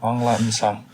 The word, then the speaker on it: Aung La N Sang: l a n s a n g yeah on La song angla it has been fantastic having you here